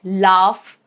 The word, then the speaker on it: laugh: GH is sometimes pronounced as letter F, like laugh or tough.